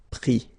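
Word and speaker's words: pris: Mettre, mi, and then E-N-D-R-E, ES, but then same thing here, the sound I. Prendre, prix, okay.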